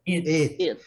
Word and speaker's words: it: Esse aqui é it. Não é it e nem at, é it. É uma coisa assim, it, né? Mas você puxa um pouquinho para o lado do e, tá, Rosiane?